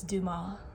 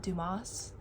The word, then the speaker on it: Dumas: I realized after I read the Kamani Cristo that it's Duma, not Dumas.